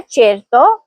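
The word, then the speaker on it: certo: اگلا لفظ ہے چیرتو, اس کا مطلب ہے یقیناً یا ضرور. یہاں سی کے بعد اے آیا ہے اس لیے صحیح تلفظ ہوگا چیرتو.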